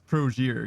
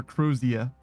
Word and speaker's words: Crozier: new say wait it's not croser like closure rhymes with closure prosure it seems like it's crosier yeah or crosia if you're British which I am not so Crozier it is